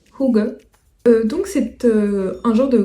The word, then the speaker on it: hygge: Alors là, vous allez peut-être le prononcer Hidge, mais en fait ça se prononce Hygge.